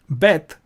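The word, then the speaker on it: בּ: So this would be Bet, and without a dot is pronounced Vet.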